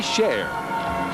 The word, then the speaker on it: Share: no way out tsukahara shall we share pronounced sh ar e